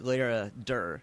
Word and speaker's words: Laradir: So now your other project, Laradir. Do I pronounce that the way you pronounce it?